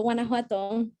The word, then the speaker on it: Guanajuato: pronunciation of your hometown in mexico since i mispronounced it for sure you almost got it thank you though guanajuato learning a lot of things on this on